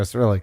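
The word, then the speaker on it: Cyrillic: I said acrylic the other day. It ain't acrylic. What is it? How do I uh Yeah, there we go. Cerillic. There we go. Cerillic.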